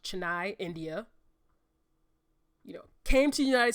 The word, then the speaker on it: Chennai: I believe it's pronounced Chennai, India.